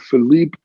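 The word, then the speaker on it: Philippe: have Philipe es and if I mispronounce Philipe I apologize but why don't you say it correctly so our audience at least hears it one time my name my name is Philip I think I did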